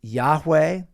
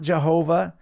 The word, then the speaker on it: Yahweh: letters yod he VAV to the best of our knowledge it's pronounced Yahweh and if someone tells you that God's name is Jehovah it's not like you have to heat check them and say no it's not Jehovah it's just that's not how God's name is vocalized or pronounced and the fact that we've